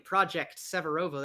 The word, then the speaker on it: Projekt Severovo: have caught me running project severovo that is project severovo spelled with a k in the severovo it's silent now um uh i